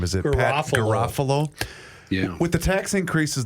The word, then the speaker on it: Garofalo: I always forget how to pronounce his last name. Is it Pat Garofalo?